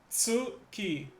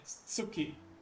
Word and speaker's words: Tsuki: How is that one pronounced? Suki. T S U C K I. Suki.